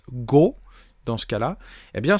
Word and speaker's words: 語: Et quand vous rajoutez ce petit kanji là que l'on prononce go, dans ce cas-là, eh bien ça veut dire le corbeau.